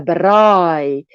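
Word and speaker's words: braai: in south africa and if you say it like a real afrikaans person is a brain the r is in front of your mouth in the front of your mouth brai but now if we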